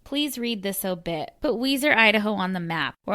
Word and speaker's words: Weiser: Note, Weiser is spelt like Budweiser, but is pronounced Weiser.